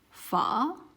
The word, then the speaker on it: pha: this word, which is fa. So this letter and then this letter will create a combination which will pronounce just like the F in English, the F sound in English, fa.